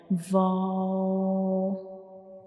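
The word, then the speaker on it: واو: Without touching the both lips completely, only we will make a circle to pronounce vow, like vow, vow.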